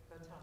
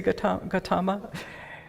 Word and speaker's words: Gautama: Gautama. You say Gautama?